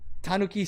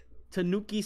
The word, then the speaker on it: tanuki: and then she dislikes tanuki statues all right that's right tanooki statues yeah tanuki tanooki however you want to pronounce it yeah she dislikes those